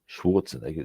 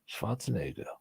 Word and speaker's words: Schwarzenegger: fact it's not that Well, yes, it's not Schwarzenegger, it's Schwarzenegger, yeah. So, yeah, poor fucker's been having his name mispronounced for years.